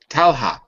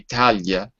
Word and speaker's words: Talha: i pronounce it haha talha okay because i live in portugal and that would be Talia tell her and is it huh like that age sound save again for ha ha ha talha talha ok